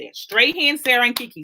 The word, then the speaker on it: Strahan: Strahan, Sarah, and Kiki show. That's how you say it. Strahan, Sarah, and Kiki.